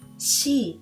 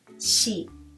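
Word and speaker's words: し: However, we don't have C sound in Japanese. Instead, we have she sound, not C, but she. So, please remember to pronounce this particular letter she, not C.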